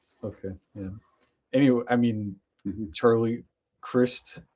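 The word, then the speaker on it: Charlie Crist: Any I mean Charlie Christ spelled like Christ but pronounced like Chris.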